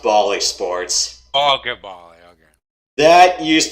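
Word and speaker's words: Bally Sports: it's on tvs pbs okay is that is bailey sports wha is that its own separate channel all right so oh oh i know what you're talking about oh it's pronounced bali sports all goodbye okay that used to be fox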